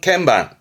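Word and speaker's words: 鍵盤: 건자 대한 설명 때문에 드렸던 말씀입니다 요건 반자라오에 발음은 캠방 캠방네 맞습니다 피아노 건반이 피아노 건반이 키포인트 아아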